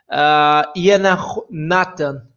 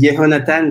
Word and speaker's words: Yehonatan: Yana Nathan, is that right? Hello? Almost, almost. Almost, okay. Could you say your name correctly, please? Yeah, my name is Yehonatan.